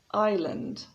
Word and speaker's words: island: first word is island notice that the s is silent so it's not iceland or island but island next castle another silent